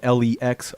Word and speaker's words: LexOnDecks: And just for the people on the radio, it's spelled LexOnDecks. It's like my name is Lex. I'm like on a DJ Dex.